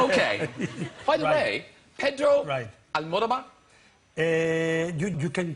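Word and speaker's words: Almodóvar: So, anyway, if you want to pronounce it like if you were Spanish, excuse me that I'm so long, then it is Pedro, yes, you said that. Pedro? Pedro, yes. Almodovar.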